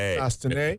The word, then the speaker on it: Chastanet: And I got it right today. Chastanet. T is silent.